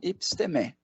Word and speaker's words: epistemé: Mas não dói nada saber como é o certo também, né? É legal, né? Então, epistemé é o mais adequado.